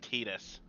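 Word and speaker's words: Tidus: and i hate to blow your bubble it's pronounced titus adidas yeah so hold on one second let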